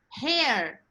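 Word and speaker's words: hare: 3 words that sound the same. Now your next word is hair. H-A-R-E. Hair.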